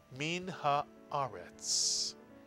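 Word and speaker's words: מן הארץ: And third syllable, retz. Put the words together. Min haaretz.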